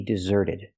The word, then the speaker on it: deserted: let's talk about pronunciation if I change the verb desert to the past I hear deserted the T changes to a fast D because it's between vowels he deserted and he is a